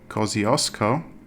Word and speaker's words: Kosciuszko: But with all yellow road lines, it's likely to be around the biggest mountain of the country, which is Kosciuszko, pronounced the Aussie way.